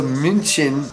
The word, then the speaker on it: München: So München, that was good? That was good. Is Munich. We just spell it different because no one in America can say München.